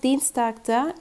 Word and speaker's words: Dienstag: Dienstag'da i-e görüyoruz ama bu uzun bir i olarak okunuyor ki. Dienstag diye. Dienstag.